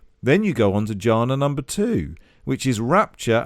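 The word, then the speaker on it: jhana: They use the word janna. Might be saying that wrong, but I don't think I No, that's how you say it.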